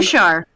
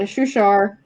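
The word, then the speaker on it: Shuushar: You guys tell me how you pronounce this because there's an extra U in here, and I don't know how to pronounce 2 U's in a row. Seriously? That's normal in Dutch. Damn. Shushar! Constant Shushar?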